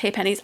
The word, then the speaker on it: halfpennies: Halfpennies, aka halfpennies, pronounced haypennies. Oh, okay.